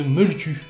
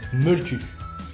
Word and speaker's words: Mölkky: épisode pour parler de Molku, qui s'écrit M-O-L-K-K-Y. Molku. Ou Molti, c'est pareil.